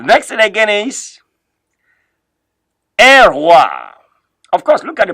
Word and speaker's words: roi: The next thing again is un roi. Of course, look at the pronunciation at the middle there, please. The pronunciation of this word is R-W-A.